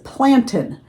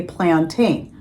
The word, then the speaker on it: plantain: It's plantin." And some people do pronounce it that way.